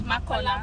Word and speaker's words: Makola: Is that the way it's pronounced? Yes, Makola Market.